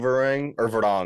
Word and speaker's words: Varang: Also, the actress who's playing Varang, I heard is their name recently, so I'm correcting myself as well.